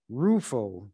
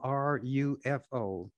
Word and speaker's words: Rufo: the lgbtq community and so forth almost overnight roofo and some may have never heard of him his name is spelled r-u-f-o rufo has become the standard bearer for a